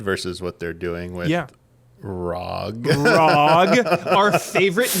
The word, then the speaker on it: ROG: It's like Rog Roger. you, We call it dude. the Rog. Rog, you guys. It's short for Roger. The Rog Roger for LIS. me. No, it's a hard G. It's ROG for gamers.